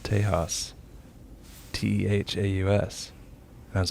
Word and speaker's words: Tehaus: with its negative drawbacks nobody in the world knows how to say it it's teja it's just like the spanish word for texas acceptable spelled a little